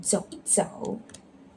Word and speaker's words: 一: What is the tone for E? Okay, it's the neutral tone, 走一走. Why? Because in the middle of words, neutral tone is say this is the fourth rules.